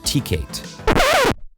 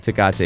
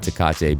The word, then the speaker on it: Tecate: a t-shirt on advertising a mexican beer called tkate it's actually pronounced okay i was just you made my brain freeze for a second there i was like do i correct him does he actually think it's tkc it's called takata it's a mexican beer called